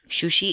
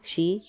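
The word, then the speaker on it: し: second है कारो जिसमें है का की कु के के को सा रो में है सा और ध्यान रखना यहां पे शी होता है ठीक है सा शी सु से सो ता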